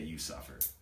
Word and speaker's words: VCVFFIR: Yeah, no, it's spelled VCVFFIR, but you say it, You Suffer.